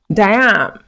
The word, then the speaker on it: jamb: Jamb, jamb is a kind of poetry. Honeycomb, honeycomb. So you need to learn how to pronounce these words naturally without the B.